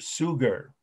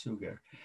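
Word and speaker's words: Suger: he's the father of gothic architecture is bishop sugar and that's s-u-g-e-r almost like the word sugar but pronounced sugar so he's an important person in the history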